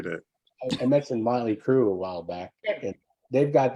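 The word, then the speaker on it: Mötley Crüe: chanting Motley Crue but they were saying mootly crew yeah there you go because that changes the sound of the L right right so there there was actually saying the name wrong because they would be saying it the way it's spelled right like so but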